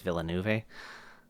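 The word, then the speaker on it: Villeneuve: I'll probably butcher the name, but uh Dennis Villanuv.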